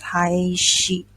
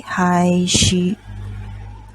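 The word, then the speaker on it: 廃止: country that is provided this country is pronounced as high sheep okay hi she can you write this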